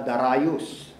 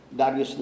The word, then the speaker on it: Darius: ni King Darius o sa iba ang bigkas nila Dar rayus Hindi ko lang alam kung anong English yun kung British English American english yung Dar rayus pero sa ating mga Pinoy Darius lang ang mating bigkas doon kahit anong bigkas